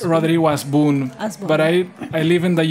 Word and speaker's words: Hasbún: I mean, in Spanish, we don't pronounce the H, so it's Rodrigo Hasbun. But I live in the U.S. and they pronounce it like Hasbun.